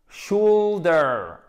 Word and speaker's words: shoulder: Alors, accentuation sur la première syllabe. Et c'est pas shoulder. C'est pas chou ou. C'est une diphtongue. C'est un E qui tire vers le ou. Shoulder. Shoulder. Ok? Et c'est pas ou, c'est bien ou.